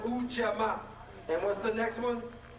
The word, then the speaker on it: Ujamaa: We have, it's pronounced Ujamaa.